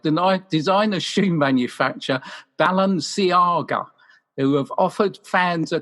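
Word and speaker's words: Balenciaga: want to nominate designer shoe manufa who i pronounce is right the knight designer shoe manufacturer balon siaga who have offered fans a closer look at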